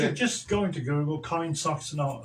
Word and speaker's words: KindSox: Just go into Google, Kind Socks. Now, socks is spelled S-O-X, so it's KINDSOX.